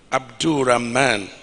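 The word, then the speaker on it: Abdulrahman: in the house the the correct pronunciation of my brother and governor and our agf chairman is malam Abdul ramman Abdul razak put your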